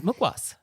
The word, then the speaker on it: mukhwas: a restaurant thing oh fantastic so this is mukas mukas can you spell mukas for us well it's Hindi but it is spelled on this little packet m u k